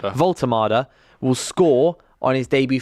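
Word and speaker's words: Woltemade: So, so he will get his debut Walter's or how do you pronounce it again? Sorry, Volultard. Volto will score on his debut for Newcastle and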